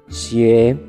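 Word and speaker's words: 鞋: Bueno, la palabra para zapatos en China es xie, que suena exactamente igual que una palabra de mala suerte. En este caso, la palabra mal, que se escribe igual, xie.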